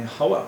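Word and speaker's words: חוה: Well, so the Hebrew name would be Hawa. What they call her, how they pronounce it in French, is something else.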